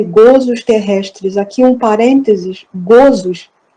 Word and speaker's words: gozos: Aqui um parênteses, gozos, a pronúncia é fechada, gozos, das penas e gozos terrestres, felicidade e infelicidade relativa.